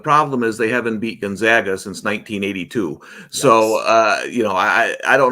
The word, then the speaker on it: Gonzaga: We've got Gonzaga, or I used to say Gonzaga, but I understand it's Gonzaga now.